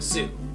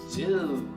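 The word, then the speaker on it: sŵ: Okay, so let's look at the word zoo. In Welsh, it's pronounced exactly the same, but we spell it S-W, and the W has a little circumflex on it.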